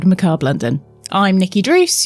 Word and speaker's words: Druce: I'm Nikki Druce, your host with a silent G, and today we'll be